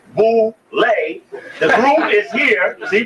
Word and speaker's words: Boule: to go to the Boule picnic known as boay pronounced Bole the group is here see Bole ble b